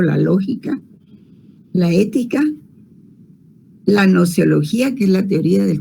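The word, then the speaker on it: gnoseología: Esas otras disciplinas filosóficas son, por ejemplo, la lógica, la ética, la nociología, que es la teoría del conocimiento, con G al principio, GNO, noceología, se pronuncia nociología.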